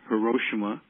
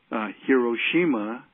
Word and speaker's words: Hiroshima: So some have a hard O, Hiroshima, right? And I know for us, probably the radio that has built and sustained our career on black radio has always pronounced the name Hiroshima, and we in the band tend to pronounce it Hiroshima. So technically it's both, and our situation, we're